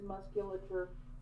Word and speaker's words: musculature: It is musculature.